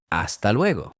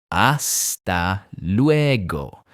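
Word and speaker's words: hasta luego: Another really useful one is aa leego.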